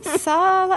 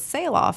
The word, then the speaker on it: Sahloff: So it's Sail Off, as in like sail off into the sunset. Love how it. you would spell that for the business. But my last name is Sahloff.